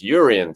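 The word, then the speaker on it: Jurriën: with Declan Rice and Jurrien Timber. Sorry, I keep pronouncing the J, and I've been told off for doing that in the comments section on YouTube. So apologies, Jurrien Timber.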